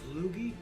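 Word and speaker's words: Logie: So one century ago 1926, John Lugie Beard gave the first public demonstration of television is his laboratory in London. His name is Lugie.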